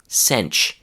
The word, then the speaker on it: sent: And if you put a word after that starts with the sound y, the pronunciation of sent becomes sench.